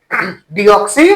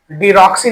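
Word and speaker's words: deoxy: डीएनए का full form pronunciation डीऑक्सीराइबोज nucleic acid डीऑक्सी [गला साफ़ करने की आवाज़] डीऑक्सी डीक्सी नहीं पढ़ते हैं डीऑक्सी डीऑक्सी आई भी राइबोज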